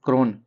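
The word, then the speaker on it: krona: क्रोन। क्रोन नहीं क्रोना है। थोड़ा सा अंतर है। हम क्रोन का ट्रिक आपको बताएं यहां पे। क्रोन का स्वीडन में क्रोना एक लास्ट में ना लग जाता है।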